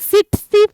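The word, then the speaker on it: tsetse: এই প্রোটোজোয়াটাকে বহন করছে কে, ভেক্টরটা ভালো করে দেখবে, সিটসি ফ্লাই। দেখো আমি ছবিও দিয়েছি মাছিটার, প্রথম টিটাকে কিন্তু উচ্চ রাখবে, রেখে উচ্চারণ করবে, দেখবে এসে যাবে সিটসি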